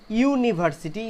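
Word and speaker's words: university: पे ए आया क्योंकि यूनिवर्सिटी जो यू है उसका प्रोनाउंसिएशन आया वाई ओ यू, इसीलिए वाई से शुरू हुआ बोल के ये आया ए।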